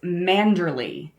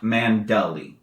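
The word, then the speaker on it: Manderley: Is it pronounced manderlay or mandal? Neither. It's manderly.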